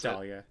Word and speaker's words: Dahlia: I'm not actually sure how you pronounce it. It is Dahlia.